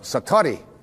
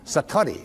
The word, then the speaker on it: Satori: Japanese but it's called Satori I'd love to say that Satori SAT Ori and it